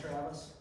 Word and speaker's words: Travis: like I shouted earlier the Jay is silent so just call me Travis uh my wife and